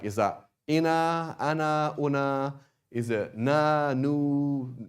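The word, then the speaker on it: أنا: And so just one thing with ana is written with an alif, but you do not pronounce the alif.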